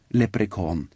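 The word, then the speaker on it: leprechaun: menneskene fikk vite at ordet lepr kon som uttales lepr kon var avledet av lepr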